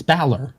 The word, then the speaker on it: Balor: what do you mean what I call Finn pronounce his last name again baor it's Balor Balor Finn Balor Finn Balor who that he